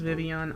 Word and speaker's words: Vivillon: Scolipede and Vivillon. Yeah, I know it's pronounced Vivian, I don't care.